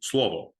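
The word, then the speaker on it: слово: Russian New Brunswick but in Serbian you pronounce it slovo uh but in Serbian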